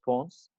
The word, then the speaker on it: Pons: like Christmas. Oh, okay. Pons. Oh. So no S at the end of, but there's an S in Pons.